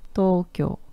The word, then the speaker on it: Tokyo: "Tokyo no jinkou" "Tokyo" é "Tóquio" e a pronúncia de "Tokyo" é "Toquio" "Tokyo no jinkou" e "jinkou"